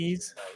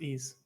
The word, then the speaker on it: Ys: It's Ease, by the way. It's pronounced Ease.